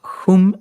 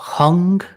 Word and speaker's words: hum: Sí, pues es la sílaba hum o hung, H-U-M, y es una sílaba que, digamos, todo el lenguaje sánscrito está compuesto no por letras, sino por sílabas.